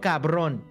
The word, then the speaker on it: cabrón: No te tengo miedo, cabrón.